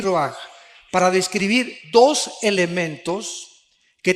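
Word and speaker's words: רוח: Aquí se usa otra palabra hebrea que es se escribe roach con R de Raúl A. Se pronuncia roaj. Por ejemplo, cuando hablamos del Espíritu Santo, el Espíritu Santo es roaj, el cadosh.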